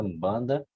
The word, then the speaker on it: Umbanda: É isso, Umbanda. isso, é uma pronúncia nasalizada, Umbanda, né?